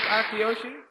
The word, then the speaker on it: Akiyoshi: How do you pronounce it right? Huh? Akiyoshi? It is Akiyoshi?